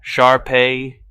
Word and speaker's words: Shar-Pei: "Shar-Pei, accent on the last syllable.